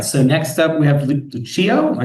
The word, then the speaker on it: Lucio: All right, so next up we have Lucio.